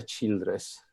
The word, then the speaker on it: Childress: nome si pronuncia beacham il secondo me si pronuncia childress ok ecco in questo testo la tutta la